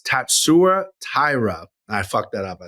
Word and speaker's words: Tatsuro Taira: I brought this file to the masses because I think I've been mispronouncing his name his whole UFC career. So let's hear the file, Cody, if we could. My name is Tatsuro Taira. My name is Tatsuro Taira.